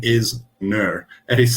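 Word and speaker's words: gnurr: and that name is nur it is spelled g-n-u-r-r not too sure why the g is silent but next time you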